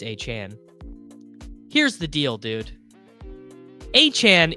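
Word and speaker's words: Achane: how to pronounce Devin a chain as ESPN's Adam shapter noted his name his name was listed in the team's pronunciation a guide as achain but according to Devon himself it's achan here's the deal dude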